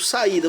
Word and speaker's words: saída: Exemplo, saída. Vamos separar? Sa, i, da. Olha só. Separou. É o hiato de i. O i sozinho na sílaba, ele é a sílaba tônica. Então ele recebe acento.